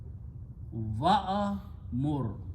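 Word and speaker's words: وَأْمُرْ: these two to recite, alif being a weak letter, don't pronounce. So waw will be pronounced with this sukoon on hamza. So this will become, if I just take this one and move back here, that's the way it becomes now. Okay, and this is pronounced wo mur. So alif just left outside.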